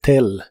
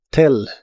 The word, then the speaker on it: tell: El verbo decir cuando se refiere a contarle a alguien en inglés es tell. La doble L se pronuncia como una L normal. Tell. Tell.